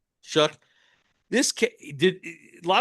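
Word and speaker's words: Shough: brought up uh Tyler Shook, how do you pronounce it? Guy guy from Louisville. Shook. Shook.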